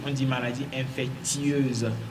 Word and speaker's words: infectieuse: Il y a le i que nous avalons, mais que nous devons forcément prononcer parce que l'adjectif infectieux vient de infection. Il y a i qu'on ne doit pas oublier, infectieuse.